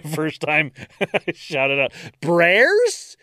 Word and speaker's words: Brears: Brears? Is it Bears with an extra R?